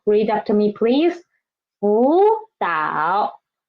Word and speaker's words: 辅导: So when they're together, we should change the first one into second tone, right? So it becomes 辅导. Read after me, please. 辅导, 辅导.